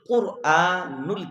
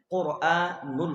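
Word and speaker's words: قرآن: কোরআন না?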